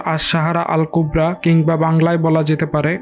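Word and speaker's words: الصحراء الكبرى: সাহারা আরবি উচ্চারণ আশাহারা আল কুবরা কিংবা বাংলায় বলা যেতে পারে মহান মরুভূমি যেটি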